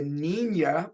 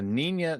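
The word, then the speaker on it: Niña: Was it the Nina, which I believe is how it's pronounced because it's got the little squiggly thing on top of the second N?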